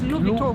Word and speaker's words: Louis Vuitton: Lou, I don't think the S is here. So, it's Louis Vito.